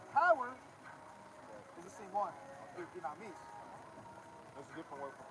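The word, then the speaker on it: δύναμις: Now that word power in Luke chapter 10 and verse 19 is pronounced dynamis.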